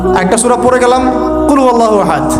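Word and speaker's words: قل هو الله أحد: আল্লাহু আহাদ মানে কি এটা উচ্চারণই বা কেমন করে করতে হয় কুল বলুন হু আল্লাহু আহাদ তিনি আল্লাহ এক এই যে কুলহু আল্লাহু আহাদ অনেকেই বলতে পারে না কুলহু আল্লাহু কুলহু আল্লাহু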